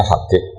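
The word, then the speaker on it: حبيب: Itu di harakatnya kitab itu ada yang nulis Hubban. Yang benar. Oh, nggih. Yang benar itu bacanya Habib.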